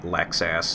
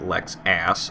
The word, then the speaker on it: Lexus: I gave that Lexus a good horn blow, a perfect example of why I hate Lexus drivers. And as you noticed, yes, I'm pronouncing it Lex-ass. I'm very well aware that it's Lexus.